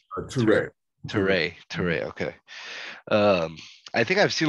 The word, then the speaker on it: Ture: Ture.